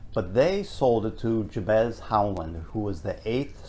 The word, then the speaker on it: Jabez: Yeah, I think JB's Corner, as we call it here in Plymouth.